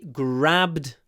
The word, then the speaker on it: grabbed: next one on he grabbed my arm oh we missed he he grabbed my arm here the ah is not clipped because it comes before a voed grabbed grabbed ah a full ah with a smile ah